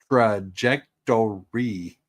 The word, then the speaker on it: trajectory: It is trajectory. Four syllables.